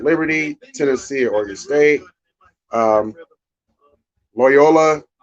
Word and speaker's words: Loyola: Tennessee Oregon State um Loyola I would say rhymes with Toyota against Georgia Tech and